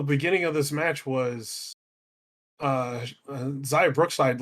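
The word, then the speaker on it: Xia: I Okay, think so it's not like Shia Lee, it's Zaya.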